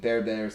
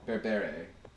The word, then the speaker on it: berbere: So we happen to have some Ethiopian berbere spice, or berbere. I can't even pronounce it correctly. Beret.